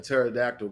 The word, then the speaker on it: pterodactyl: can't you hear a pterodactyl going to the bathroom you pissing the air I mean yeah I mean it's dropping right because the p is silent yeah I like